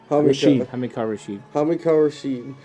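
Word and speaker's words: Hamilcar Rashed: Hamakah Rashid.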